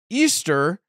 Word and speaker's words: Ishtar: love war and fertility Ishtar which was actually pronounced Easter and she uh she